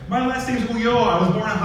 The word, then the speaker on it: Ulloa: You can't really hide Ulloa too well because no one can pronounce it. So hiding it wasn't so good. My high school principal at graduation called me Eric Aloha on my graduation.